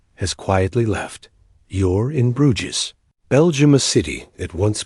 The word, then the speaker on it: Bruges: Bruges, before it was forgotten Bruges, pronounced Bruges, began not as a capital or a citadel, but as a small fishing settlement in the early Middle Ages.